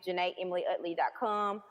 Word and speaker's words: Jena: is spelled, or just my name, Juh-nay, I would love to connect with you, crushes, and talk to you and laugh with you.